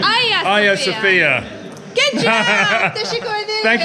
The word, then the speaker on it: Hagia Sophia: So I've spoken to some lovely local guys who have said no, it's Hagia Sophia. Hagia Sophia. Hagia Sophia.